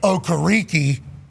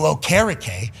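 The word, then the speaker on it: Okereke: complete change of pronunciation from a draft night to midway through season in Okariki who then changes the pronunc uh pronunciation of his name which I'm completely cool with to go back to honor his family and everything like that to okake but then a video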